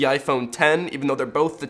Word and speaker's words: iPhone X: And I'm not even gonna get into the fact that OS X is pronounced OS X, but the iPhone X is pronounced the iPhone 10, even though they're both